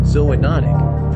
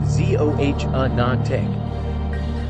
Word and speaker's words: zoonotic: before spreading to humans these types of diseases are called zoonotic pronounced z-o-h-anon Tech cows bats and camels